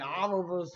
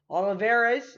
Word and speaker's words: Olivares: And Oliver's will look at that one, and that will go to 2-0. Olivares, that's his name. Sorry, I pronounced that wrong.